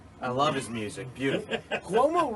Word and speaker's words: Cuomo: Cuomo rhymes with Como.